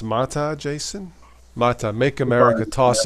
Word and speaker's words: MATE: Joe Collins says Mate is pronounced Mata.